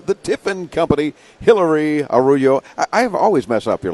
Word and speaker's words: Araujo: do you say it I say it as a raw show a raw show and people have told me no you're saying it rose a your name for